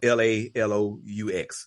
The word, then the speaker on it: Laloux: And so it's spelled Lalous, but it talks about a different model of